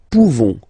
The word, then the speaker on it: pouvons: Okay, nous pouvons. Nous pouvons. Okay, you don't pronounce the final S.